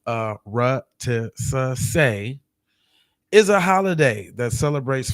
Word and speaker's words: Arutisuse: It says a Arutisuse, pronounced Arutisuse, is a holiday that celebrates foundational Black American culture of freedom, fighting, and resistance.